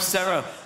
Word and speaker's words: Sarah: Like Sarah with an H, or Sarah without an H. Sarah without an H is pronounced like this. Sarah. And with an H, Sarah.